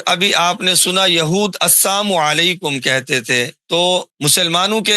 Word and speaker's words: السلام علیکم: استعمال کرنے نہیں آتے۔ السلام علیکم بعض کہتے ہیں، السلام علیکم کہتے ہیں، یا السلام علیکم کہتے ہیں، یہ سب غلط ہیں بھی۔ صحیح تلفظ سن لیں اور اسی کے مطابق سلام کیا کریں۔ السلام علیکم ورحمۃ اللہ وبرکاتہ، السلام علیکم، میم کے اوپر پیش صاف کرنا ہے، علیہ نہیں کہنا بھی، علیہ غلط ہے، علیکم۔ السلام علیکم